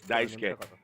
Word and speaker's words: Daisuke: His name is actually spelled Daisuke. And I think he's called that here, but the correct pronunciation is Daisuke. The U somehow disappears when you pronounce his name.